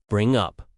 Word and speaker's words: bring up: Pronunciation tip, the stress is on up in both meanings. Bring up.